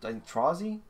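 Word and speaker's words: Trozei: Um but still in enjoying for I did buy actually Pokemon Trazzy is how you pronounce it.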